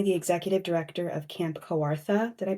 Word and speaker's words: Kawartha: He's currently the executive director of Camp Kawartha. Did I pronounce that right, Jacob? Yeah, you did. Kawartha.